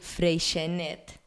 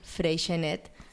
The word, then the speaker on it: Freixenet: I am going to tell you, Nalini, how I think I would pronounce it, and it would be Freixenet. Okay. Freixenet. Because it's from Catalonia.